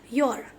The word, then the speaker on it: Ur: यू आर को आप लोग जब गूगल में भी प्रोनाउंसिएशन देखेंगे तो यहाँ पर कहीं पर इसका प्रोनाउंसिएशन कैसे बता रहे हैं? योर.